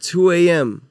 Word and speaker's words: 2twoAM: You know, 2AM IG, with the number 2, the word Spotify, 2AM. Twitter. You feel me? The T is silent.